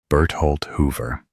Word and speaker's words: Bertholdt Hoover: In English, it is commonly pronounced Bert Halt Hoover.